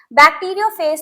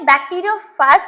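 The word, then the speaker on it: bacteriophage: तो बेटा इन्होंने क्या किया, बैक्टीरियोफेज नाम का एक वायरस लिया। ठीक है, बैक्टीरियोफाज कह सकते हो या बैक्टीरियोफेज, दोनों प्रोनाउंसिएशन सही है। तो मैं इसको बैक्टीरियोफेज कह रही हूँ।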